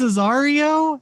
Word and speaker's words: Azario: game skill cause uh my name is azario and then rhymes with mario you didn't know oh